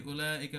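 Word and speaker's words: أولئك: থাকে না তো এই উলাইকা পড়ার সময় কি করবো আমরা এই উতে যেহেতু এই ওয়া টা উচ্চারণ হয় না এই যে এভাবে পড়বো উলাইকা পড়ার সময় এভাবে কিন্তু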